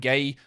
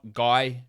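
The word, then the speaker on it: Gueye: State um 63 Muhammad gay from Washington State yes his name is pronounced gay it's not guy it's gay but it's like gay with a French accent gay like that I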